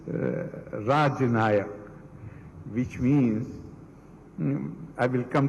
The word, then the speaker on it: Rajanaka: The venerable title Rajnayak, I'm sorry I'm pronouncing it as Rajnayak, because in the morning I spoke to a professor of Kashmiri Shaivism based in Delhi, and he said that it is Rajanayak, which means, I will